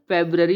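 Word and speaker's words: February: हम पढ़ते हैं फेब्ररी, नहीं हम फरवरी को फरवरी ही बोलते हैं, लेकिन इसका एक्चुअल प्रोनाउंसिएशन फेब्ररी होता है, जो क्लियर होता है प्रॉपर प्रोनाउंसिएशन।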